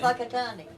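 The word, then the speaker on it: Whakatāne: Spelt with a WH. Yeah, Right, like a PH. yeah. Yeah, like they say phone. Yes. Right, And gotcha. whakatane. And With an F.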